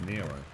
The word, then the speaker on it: NERO: any spoilers dude but it's not it's Nero if it was nerd it would be spelled with a d it's not it's spelled with an O mate like I said it